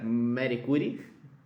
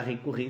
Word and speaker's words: Curie: trazemos assim festa Marie curry ou para alguns pronúncia brasileira Mercury Na verdade uma recurring seria mais adequado sendo que é seu nome de casado dela que é o nome francês porque é uma cientista